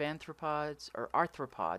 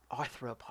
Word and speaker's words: arthropod: I have vein of anthropology always say that wrong arthropod yes you didn't used to be an to the prog no I just always said it wrong sorry okay so now